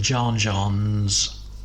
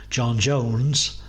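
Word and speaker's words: J'onn J'onzz: N's there are in John John's, which I've mispronounced because it's actually John Jones, but I'm sticking to it because that's how I like my John Johns.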